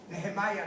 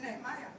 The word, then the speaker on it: Nehemia: But the way we used to call him, and I refer to it in the Hebrew way of pronouncing the name, is Nehemia.